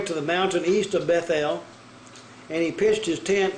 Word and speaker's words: Bethel: name of yahweh word bethel or they got bethel it's bait el means the house of l the number there